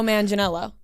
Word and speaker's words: Manganiello: Or no, Joe Manganiello. That's how you pronounce his name.